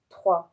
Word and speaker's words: Troyes: in the Treaty of Troyes. I think you pronounce it like this, because it's written Troyes, but in French it's pronounced Trois. So I don't know. I'll say Troy.